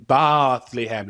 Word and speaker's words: Bethlehem: Francis of Aisi uh visits Bethlehem which he insists on pronouncing Blehem. He pronounced it like a sheep.